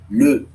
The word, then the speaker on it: le: Feminino é la e masculino le. A pronúncia aqui é muito importante. Le.